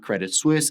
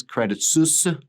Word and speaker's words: Credit Suisse: Now, I know that it's not Credit Suisse, it's Credit Suisse.